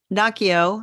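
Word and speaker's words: Naoko: yeah close enough and so noio I think is how she pronounces her name because I actually listen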